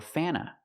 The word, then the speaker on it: Fanta: It's pronounced Fanta. Fanta or Fanna. Sometimes you don't hear the T because you have N T between vowels. So, you'll hear Fanta or Fanna, but never Fanta.